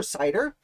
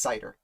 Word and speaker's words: Seider: know i don't know i think it's pronounced cider either way christopher cider is arguably